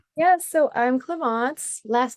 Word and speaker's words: Clémence: Yes, so I'm Cleance, last name, universally acknowledged as a name that is absolutely impossible to pronounce.